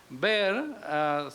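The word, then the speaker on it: Byrd: demócrata es robert bird bird se pronuncia bien así que se va bar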